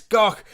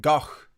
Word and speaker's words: Gough: So I pronounce it GOUGH, like Van Gogh.